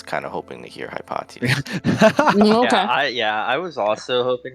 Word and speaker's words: Hypatia: pronouncing the name wrong I thought it was hypotia but then later I've told it's maybe hypatia I don't actually know but uh okay whatever